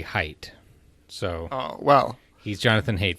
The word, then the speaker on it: Haidt: II as I write I would have said hate because I mispronounce everything but I think I saw on his own website that you say height so well he's Jonathan